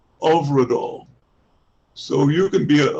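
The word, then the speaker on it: Hyfrydol: said to the director how do you pronounce h y f r y d o l and she said overall over it all so you can be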